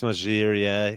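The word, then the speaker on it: Margirier: Yeah, Matisse Magirier.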